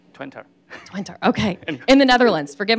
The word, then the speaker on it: Twente: Is that the right pronunciation? Twente. Twente, okay.